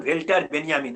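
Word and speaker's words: Walter Benjamin: এবং জার্মান মনীষী ওয়াল্টার বেঞ্জামিন, সঠিক উচ্চারণ ভেল্টার বেঞ্জামিন, আমি জার্মান বিষয়ে তত অভিজ্ঞ নয় বলে আমি ওয়াল্টার বেঞ্জামিনই বলবো, তার আত্মহত্যা তার প্রবল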